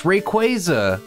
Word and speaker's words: Rayquaza: Alright, after pausing the recording, it appears that it's Rayquaza, a mix of the words Ray and Quasar, so who knew? I was saying it wrong all the time.